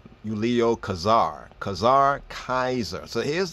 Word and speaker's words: Julius: name the J right that J actually being pronounced as a y right in Latin it would not be